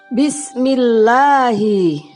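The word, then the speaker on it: بسم الله: Lam jalalah dibaca tipis ketika didahului harokat kasroh. Nah, contohnya adalah Bismillahi. Nah, bunyinya terdengar A. Yang betul membacanya Bismillahi, bukan Bismillahi, tapi yang betul Bismillahi.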